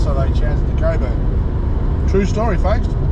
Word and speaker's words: Cockburn: I'm not sure, we're not all that far out of Coburn, or it's spelt Cockburn. I'm pretty sure it's pronounced Coburn.